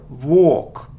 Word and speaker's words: walk: it isn't V not it isn't walk it's a long sound or or without L walk walk it isn't muscal no